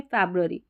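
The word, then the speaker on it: February: हिंदी में तो हम फरवरी बोलेंगे, इंग्लिश में फैब्रुअरी, फैब्रुअरी, तो अब ऐसे पढ़ना है आपको।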